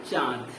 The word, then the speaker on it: चाँद: अगर हम आकार की मात्रा पर चंद्रबिंदु लगा दें, ठीक है, अगर आकार की मात्रा पर चंद्रबिंदु लगा दें तो इसका हम क्या उच्चारण करेंगे? इसका उच्चारण करेंगे चाँद।